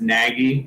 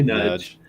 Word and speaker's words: Nagy: channel, and Nudge Silver, you guys are going to know him as Nagy. That's right. The way it's spelled in chat, but it's actually Nudge.